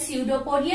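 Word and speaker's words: pseudopodia: Named as स्यूडोपोडिया, ये P silent है।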